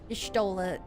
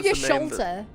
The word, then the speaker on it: Y'shtola: Do you know that I said Y'shtola's name wrong for until almost the end of Heavensward? Nice. I called her Y'sholta. Y'sholta. Y'sholta. Your shoulder. Yeah, I didn't realize it was Y'shtola.